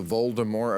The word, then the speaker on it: Voldemort: is uh somebody called Voldemort and you actually pronounce it correctly the the T at the end is silent and the Lu that